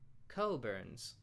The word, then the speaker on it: Cockburn's: I would have sworn that I knew how to pronounce this uh type of port wine, but it's apparently pronounced cobburns.